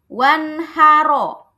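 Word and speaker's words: وانحر: Kalau mau berhenti dibacanya apa? Wanhar. Wanhar ya berubah jadi sukun rnya karena berhenti. Karena mau berhenti. Di sini ada tanda waqaf misalnya maka r-nya ini harus dibaca tafhim atau tebal.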